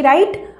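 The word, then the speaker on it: right: spelling learning के ऊपर ये आर इसका साउंड र आई जी एच का साउंड आई होता है तो आई जी एच आई टी का साउंड ट र आइट राइट बट इस राइट की स्पेलिंग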